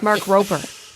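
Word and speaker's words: Mark Rober: I've heard people say his name and it's Mark Roper, so it sounds like a P.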